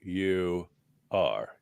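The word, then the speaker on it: Uygur: Y cand say about him u y g u r Jen yeah he doesn't have a h in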